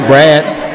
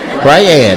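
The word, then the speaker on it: Brayad: Then why you say it like that? Is this Brad? Briad. My name is Briad.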